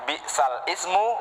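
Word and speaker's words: بِئْسَ الِاسْمُ: Jadi bacanya seharusnya bi'sal ismu menjadi bi'salismu.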